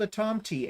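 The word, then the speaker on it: tomte: of her patterns and it is called a Tom T and she verified that that's how you say it now it is a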